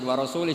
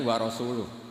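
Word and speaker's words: ورسوله: Allah itu terbebas, nggak urusan dengan orang musyrik, wa rasulih juga nggak ngurus Rasulnya. Kalau sama Rasul saja tidak ngurus, apalagi sama kita. Sama Sayyidina Ali dibenarkan yang benar bacanya itu wa rasuluh.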